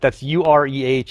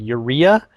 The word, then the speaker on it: Ureh: Yeah, like you, Rankil, that's Ureh is the city, and everyone's like Urea, Ura, Ure.